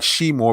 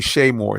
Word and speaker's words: Shay Moore: And it looks like She Moore, but it's actually Shay Moore. It's pronounced Shay.